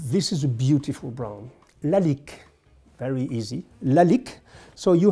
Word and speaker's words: Lalique: a little bit of perfume very easy to pronounce la lique so let me do it quickly for you